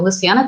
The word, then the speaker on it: Luciana: time here they go like oh wait that pronounced me your name and i go luciana they set up their luncheon it sounded a